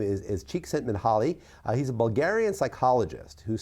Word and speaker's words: Csíkszentmihályi: And yes, I believe that's pronounced Csíkszentmihályi.